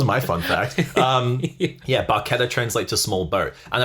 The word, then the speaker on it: barchetta: in Italian like the way that you would pronounce that word is baketo yeah um which actually translates to small boat which I thought was really fun um so that was my fun fact um yeah barketta translates to small boat and apparently you can